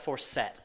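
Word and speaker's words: Forsett: it's when your league's it's pronounced for set it's for set nothing i'm saying why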